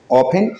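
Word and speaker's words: often: मतलब होता है अक्सर जस्ट कीप रिमेंबर की इसमें टी साइलेंट होता है ओपन ओपन यानी की अक्सर जब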